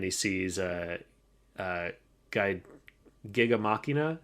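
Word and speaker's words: Gigantomachia: sees uh uh guide Giga Machina is kind of how I say it in my head but that's probably not the proper way to say it kind of the Japanese way to say it if you're in English they always say gigantom machia gigantom machia okay uh well he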